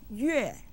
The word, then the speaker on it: 月: 月.